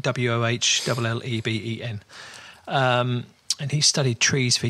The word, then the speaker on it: Wohlleben: I suppose you pronounce it Wohlleben, Wohlleben.